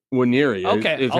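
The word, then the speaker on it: Nwaneri: It seems like the N is silent. So it's Waniri? Waniri Okay, is I'll how say he that.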